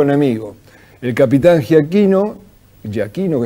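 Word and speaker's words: Giachino: El capitán Ja Aquino Ja Aquino es como se pronuncia exactamente su apellido iba al frente y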